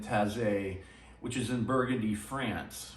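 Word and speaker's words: Taizé: that this uh chant comes from the tassie community that's spelled t-a-i-z-e and it's an ecumenical monastic order in taze which is in burgundy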